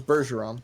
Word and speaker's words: Bergeron: caius burger ins office switching back to a hard G now that was Bergeron all right well we